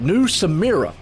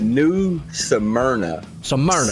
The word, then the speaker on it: New Smyrna: tonight make sure i get this name right new samira well i said that right that right uh new smyrna okay i misspell it all the time look at this spell